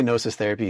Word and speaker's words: Gnosis Therapy: And when I say nosis therapy, it's G N O SIS. The G is silent.